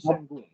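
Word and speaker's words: Şengün: Yeah, Alperen Al Sengun.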